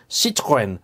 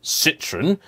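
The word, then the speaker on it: Citroën: it's Renault not renal citrin not Citron it's Lamborghini or ferari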